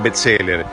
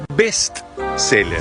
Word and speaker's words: bestseller: Y el libro más vendido no es un bestseller, es un bestseller.